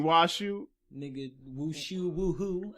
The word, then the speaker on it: Washu: You said the name wrong too. Oh my. You said Wushu. You mean Washu?